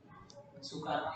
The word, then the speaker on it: Soekarno: Dari kata Soekarno yang di sini. Bacanya sama, penulisannya berbeda.